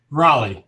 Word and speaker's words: Raleigh: right so I've been confused of if it's rally or Raleigh Raleigh yes that's how I say it so thanks